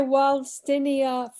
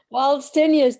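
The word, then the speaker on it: Waldsteinia: um carrick's pennsylvania pennsylvania yeah i'm still not pronouncing that right try walstinia freregoroidies frera goroidy waltz tenius w-a-l-d-s-t-e-i-n-i-a and fragoroides is like strawberry okay and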